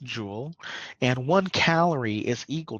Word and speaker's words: joule: jewel this Jo Ellen it is pronounced jewel and one calorie is